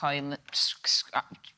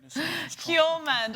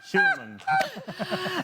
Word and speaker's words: Hjulmand: Let's quickly jump to Denmark's manager, Kasper Højlund.